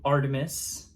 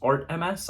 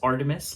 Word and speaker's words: ARTMS: you might think it's art Ms I thought it was at first too but it's Artemis like the Greek god goddess I mean which has